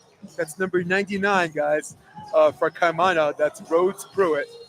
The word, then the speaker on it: Kaimana: My crew in the back said the pronunciation is Kaimana.